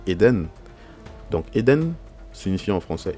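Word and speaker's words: עדן: Là on a le Aïn, on a le son tiré, donc le E. Nous avons le Dalet, nous avons un Ségol ici, le son E aussi. Nous avons le Nun, donc ça se lit Eden.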